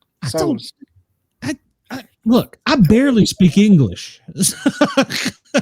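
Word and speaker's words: Tso's: General So's Cho's, chicken. yeah, General So's, yeah, Cho, whatever, yeah. Oh, Spicy chicken. Like from It's Seinfeld. TSO. It's not Cho's. So's.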